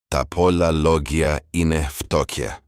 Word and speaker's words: πολλά λόγια είναι φτώχεια: You can pronounce it something like this: πολλά λόγια είναι φτώχεια.